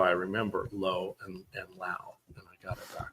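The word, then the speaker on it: Lowe: Uh uh Brandon uh Low is gonna be my guy for Tampa Bay. Well, you better say his name right. Brandon Lao. Yeah, it's Brandon Laauo and it's Nate Low.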